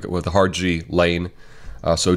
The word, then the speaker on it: Ghislaine: way from what I saw her name is pronounced G Lane that's how she said it I think in in French it's pronounced a little differently but in English it's pronounced G like it with hard G Lane so G Lane Maxwell arrested today we'll just